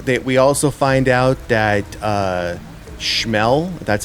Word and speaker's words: Schmel: So, while this is happening, we also find out that Schmel, that's how you pronounce it, he's the engineer on the ship.